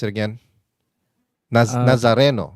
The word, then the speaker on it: Nazareno: this is actually Naza nazza how do you pronounce it again na nazareno right nazareno yeah but something the black Nazarene